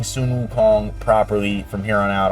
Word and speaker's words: Sun Wukong: And uh so we will be pronouncing Sunun Wu Kong properly from here on out on the channel.